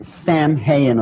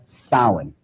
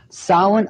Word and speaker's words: Samhain: as if it's saying Samhain or something like that no no no no this is properly pronounced and the ancient Gail as Sawin Sawin occurred and government condition